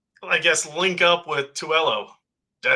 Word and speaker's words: Tuello: I kind of want to see her, I guess, link up with Tuello. Did I say it right this time? 2LO.